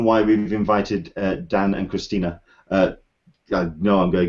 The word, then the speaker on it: Christina: Hello, Christina. How are you? I'm okay. I'm going to just get it out there. The pronunciation of my name is Christina, so it's a flat E on the end.